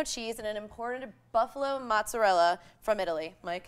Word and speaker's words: mozzarella: They use imported San Marzano tomatoes from Salerno, fresh basil, pecorino cheese, and an imported buffalo mozzarella from Italy.